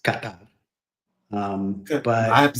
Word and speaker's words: Qatar: Qatar katar. So that drives me crazy. It's not pronounced cutter. It's pronounced katar.